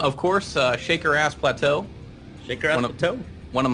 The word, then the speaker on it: Plateau: is that is pronounced Plateau like like how you pronounce plateau and uh and uh